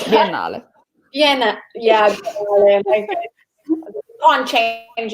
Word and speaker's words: Biennale: Well, how would you pronounce it? Biennale? Yeah, no. It's Biennale.